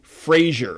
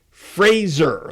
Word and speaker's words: Fraser: Everybody's been calling him Fraser, like the TV show, the spinoff of Cheers, Brendan Fraser. He says, no, my name is not Fraser. It's Fraser, like a razor.